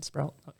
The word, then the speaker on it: Sproul: Do you have to pronounce it that way? Yes. Okay, Sproul.